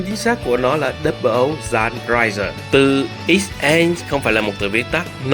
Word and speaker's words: 00 XN Raiser: xác của nó là Double O Zan Raiser. X-N không phải là một từ viết tắt. Nó là một cách chơi chữ của từ Zan (ザン) trong tiếng Nhật tức là cắt hoặc